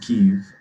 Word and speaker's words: Keith: few this is yours heavy my name is pronounced Keith and yes that's mine Keith yes I'm sorry